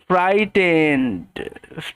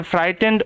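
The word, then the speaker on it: frightened: এইচ এর পরে বলছি টি এর আগে জি এইচ থাকে সেক্ষেত্রে জি এইচ সাইলেন্ট হবে ওকে তো ওই কারণে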